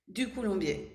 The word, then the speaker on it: Ducoulombier: I'm so excited to be here with Ducoulombier. I'm not going to be able to say it. She tried to tell me. How do you say your last name? Ducoulombier.